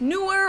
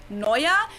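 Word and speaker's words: Neuer: annoya which a lot of people think it's pronounced newer or something like that but it's neuaya it's new year i always said newer is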